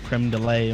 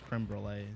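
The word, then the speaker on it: crème brûlée: to do a little creme delay on your chairs i said it wrong anyway it's creme brulee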